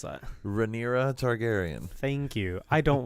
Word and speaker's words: Rhaenyra: her name because I don't know how to pronounce that. Rhaenyra Targaryen.